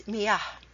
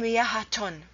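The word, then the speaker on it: مياه: But here, you do not hear it because the word is miyah. You cannot say miyahaton. Miyahaton, it's not a word.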